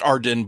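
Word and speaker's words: AREDN: local Arden network a-r-d-e-n-e-r-d-e no it's pronounced Arden but I think it's spelled differently anyway um like IP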